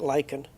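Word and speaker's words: lichen: you pronounce that Martin I call it lyen I know I've heard people say Len but I don't think it is len I think it's pronounced lyen Lin L Le lein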